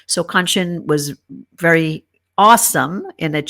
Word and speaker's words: Kanchan: So Kanchan was very awesome in that she said to remember the word luncheon, that rhymes with Kanchan.